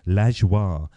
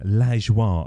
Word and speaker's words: Lajoie: So I spelt it Lajwar, and I thought that was the best way of doing it.